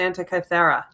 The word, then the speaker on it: Antikythera: The Antikythera.